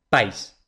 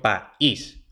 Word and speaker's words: país: dipton y se pronunciaría Pais en una sola sílaba pero no yo no pronuncio Pais pronuncio país por tanto tenemos que